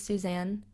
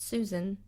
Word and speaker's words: Suzanne: My middle name is Suzanne. It is not Susan, which a lot of people put, and I was so disappointed.